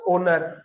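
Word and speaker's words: honour: आपका साइलेंट रहता है जैसे आप बोलते हो ह ओ एन ओ यू आर क्या बोलते हो इसको ओनर एक्स क्या रहता है आपका साइलेंट और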